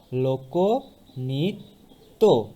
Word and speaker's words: লোকনৃত্য: সংবৃত ও এর মতো, লোক নৃত্য, লোকনৃত্য।